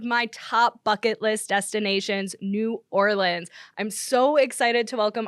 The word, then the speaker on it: New Orleans: It is New Orleans. New Orleans. It's like instead of like Orleans, do like Orlins.